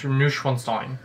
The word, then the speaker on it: Neuschwanstein: Neuschwanstein. I just pissed off. The W is pronounced like a V.